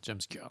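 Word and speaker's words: James Gunn: gun James gun pardon se prononce James gun James gun 2 exactement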